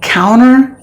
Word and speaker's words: counter: the T is silent and then counter counter measures counter active the T is silent and then the word